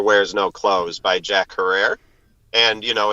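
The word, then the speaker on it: Herer: way by the way Jack insisted that it be pronounced Hera like Tara but go ahead oh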